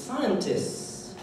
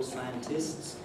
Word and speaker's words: scientists: Notice it has no T in it. You can say scientists, of course, the word scientist forms this plural scientists, but if you speak it quickly and casually, you can easily say scientists, missing out the T.